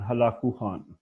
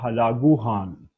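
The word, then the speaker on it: Hulagu Khan: का जप तथा ग्रैंडसन हलाकू ख़ान या हलाकू हान दोनों तरफ से प्रोनाउंस करते हैं तो हलागु खान ये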